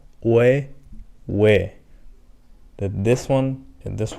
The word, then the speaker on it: 의: And here we have an interesting one, which is technically a combination of O and I, O, I. But for some reason, this is not pronounced as oi or anything like that. This is also pronounced as we. Consider this one as an exception and just memorize.